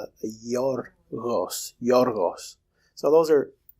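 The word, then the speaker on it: Γιώργος: vowel, a palatal vowel, and it makes it a Y sound. So it becomes yorgos.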